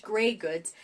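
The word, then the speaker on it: greige goods: But I mean, it's pronounced gray goods, and that stands for the basic woven fabric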